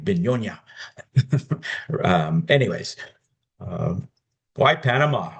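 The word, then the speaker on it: begonia: So, we probably need to pronounce it more like Beyona.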